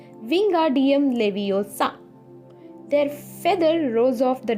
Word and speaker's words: Wingardium Leviosa: Wingardium Leviosa, he shouted, waving his long arms like a windmill. "You're saying it wrong," Harry heard Hermione snap. "It's Wingardium Leviosa. Make the gur nice and long."